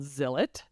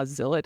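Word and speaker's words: Zilot: so this book by Bob Odenkirk is called zilet z i l o t and other important Rhymes uh Zill it is weird to pronounce but and you can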